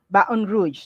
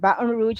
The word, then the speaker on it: Baton Rouge: And we also have here Baton Rouge. That's how you pronounce it. Baton Rouge in Louisiana.